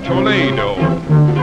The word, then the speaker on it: Toledo: quaint old town of Toledo, or Toledo, as it is pronounced by the Spaniards.